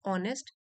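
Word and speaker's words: honest: एन ऑनेस्ट, H silent है इसमें, ऑनेस्ट, duty conscious, morally elevated person is often seen caught in adversities adversities in one form or the other.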